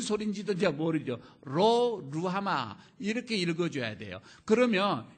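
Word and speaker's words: 로루하마: 그럴 줄 알았습니다 여러분 읽을 때 뭐라고 읽어요 로우 하마 이렇게 읽으면 안 돼요 어 로 olo 루 아마 이렇게 읽어 줘야 됩니다 노후 하마 읽으며 너 뭔 소린지 들자 모르죠 로 루루 아마 이렇게 읽어 줘야 돼요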